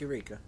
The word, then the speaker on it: Eureka: That's in Eureka, California, and that's Yereka. Is that how you say it? I have no Eureka? idea. Yeah, Eureka. Yeah, it's Eureka.